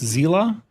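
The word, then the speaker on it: Seele: Her name is Seal, and after Honkai Star Rail character pronounced Zila.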